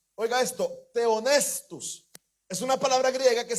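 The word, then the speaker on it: θεόπνευστος: Es la palabra griega que se pronunciaba teonestus. Oiga esto. Teonestus.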